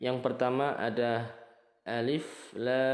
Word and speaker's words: Alif: dibaca terputus-putus yang pertama Alif ini bacanya pendek ya Alif Alif ujungnya seperti Huruf F F bukan huruf P F Alif bukan juga dipanjangkan Alif atau Alif tapi Alif pendek kemudian lam ini panjang